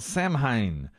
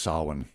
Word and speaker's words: Samhain: old celtic festival called samhain where people would light bonfires and wear costumes to ward off evil spirits in fact yes i believe in irish it's pronounced sarwin it's how we